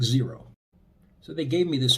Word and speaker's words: Xero: Or if you're not familiar with them, Xero, spelled with an X, pronounced, I think, zero.